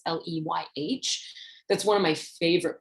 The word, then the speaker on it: Leyh: I'm not sure you pronounce her last name. It's Leyh.